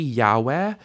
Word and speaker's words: Yahweh: the different possibilities, but the correct readings of this word would be Yahweh or Adonai. Yehovah is not a correct reading. It's a misunderstanding of the pointing of the text.